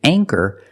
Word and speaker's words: anchor: With anchor, the CH makes the k sound. So for that reason, we pronounce the A with a long A sound.